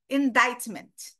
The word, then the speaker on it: indictment: uh uh just pay attention to the pronunciation there is no k sound no c c indictment indictment grand jury and